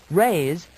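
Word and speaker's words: raze: Raise and razor, with the hard Z sound, come near the meaning of the Latin word that meant to scrape.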